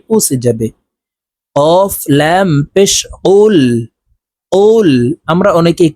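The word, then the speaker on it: قُلْ: কুল কুল আমরা অনেকেই কুল বলে থাকি জিহ্বার গোড়া থেকে একটু আগে বাড়াইয়া উচ্চারণ করি তো এটি হলো বড় কফ এ কফের উচ্চারণ জিহ্বার গোড়া তার বরাবর উপরের তালুর সঙ্গে লাগাইয়া উচ্চারণ করতে হবে তো এই কফটি জজমালা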